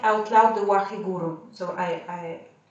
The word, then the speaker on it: Waheguru: And while we are holding our breath, we are going to mentally chant the mantra Waheguru, as in 3 syllables, even if there are Waheguru, okay?